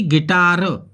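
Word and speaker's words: guitar: जी और आई की गैस टी जैसे की गिटार जी के बाद यू है परंतु साइलेंट है और जी और आई की आवाज़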